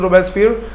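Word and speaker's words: Robespierre: मैक्स मिलन मैक्स मिलन रो बस्फर आई silent हो जाता है मैक्सी मिलन नहीं कहा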